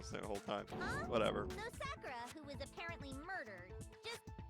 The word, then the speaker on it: Sakura: So it could have been Sakura that got the poison bottle, right?